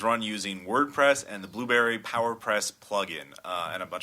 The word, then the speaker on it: Blubrry: The plugin PowerPress, Blueberry is spelled weird. It's BLUBRRY. There's no E in it.